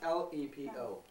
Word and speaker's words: Lepo: Lepo. Se zahvaljujem. It's L-E-P-O.